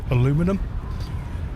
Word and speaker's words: aluminium: The guy who discovered it said aluminum. The scientific Community at the time said no, if it has to be an element, which it is, and it's a metal, it must be an inium.